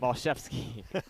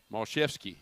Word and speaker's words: Mashevsky: Mashevsky.